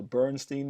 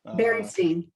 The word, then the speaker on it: Berenstain: But I remember reading to my kids, maybe I pronounced this wrong, is it the Bernstein Bears? Berenstain.